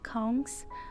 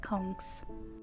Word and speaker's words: conch: it conch or conch as belisians we say kongs like everybody in belize pronounce it as konks so while i'm cutting